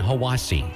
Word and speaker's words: Hiwassee: I'm Dwayne from Cleveland, Tennessee, and it's pronounced Ocoee, Etowah, and Hiwassee.